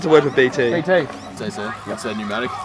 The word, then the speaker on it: pneumatic: work with BT okay pneumatic pneumatic tires it has a silent P at the start of it they're making me read